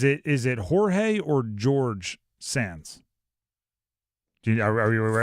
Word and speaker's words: Jorg: Uh former Gonzaga assistant, we'll say George, but it's spelled J O R G.